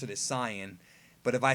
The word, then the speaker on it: Saiyan: Saiyans the tsiyon really the right way to pronounce it as Sian but if I say that people throw pitchforks